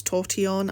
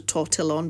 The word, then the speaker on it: tortillon: well cuz it's a French word but it's toron I think it's pronounced H but it's spelled with like a Double L so for me I would be I pronounce a tortillon but I know it's not that cuz it